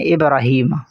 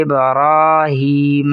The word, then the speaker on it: ابراہیم: علی۔ آگے ہے ابراہیم، اکثر لوگ اسے پڑھتے ہیں ابراہیم، ابراہیم، یہ غلط ہے، را کو پر کر کے پڑھیں گے اور ایک الف کے برابر بھی کھینچیں گے، درست تلفظ ہے ابراہیم، ابراہیم۔ آگے ہے وعلی